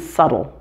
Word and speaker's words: subtle: all the previous ones there are three common words where the b is silent before a t and they are debt doubt and subtle and here's a practice